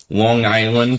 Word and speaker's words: Long Island: From Long Island. This is actually how you do pronounce it.